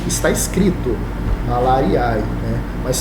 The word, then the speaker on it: malariae: Está aí malariae, mas pronuncia-se, está escrito malariae, né? Mas pronuncia-se malariae, bom?